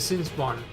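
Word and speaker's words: Sinspawn: to pronounce that but it's a scene spawn so it's kind of like a spawn from sin you know you know be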